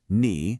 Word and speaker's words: 你: You have ni pronounced ni, which is informal, great for your friends and peers.